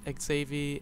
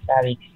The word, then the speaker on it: Savix: the server with Dark, Xavi, and Masked Trash. I forgot to tell you, it was Savix. In our homemade snow biome. Dark Savix. Dark Savix. Well, then I've been saying it wrong this entire time.